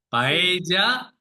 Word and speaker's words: paella: Paella, paella.